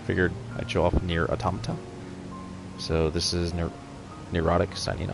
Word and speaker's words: Automata: It's pronounced Automata. I was calling it Automata for a while, but I learned later that it's actually pronounced NieR Automata.